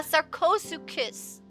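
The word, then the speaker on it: Sarcosuchus: The ch is silent. You say it like c. Oh yeah. Yeah. Yeah. Sarco kiss. Oh yeah. Sarosucus.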